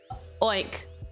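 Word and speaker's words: Óin: Owen pronounced like oink but without the K.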